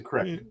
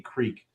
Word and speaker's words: creek: Well, where I'm from in Pennsylvania, it's a crick. Is it? Oh, okay. Okay. Yeah. But I've in many ways have unlebanonized my language and my vocabulary, so I do refer to it as it is spelled, a creek.